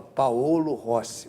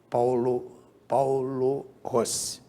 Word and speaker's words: Paolo Rossi: Todo mundo fala Paolo Rossi, mas não é, na realidade não é essa a pronúncia italiana. Paulo Rossi.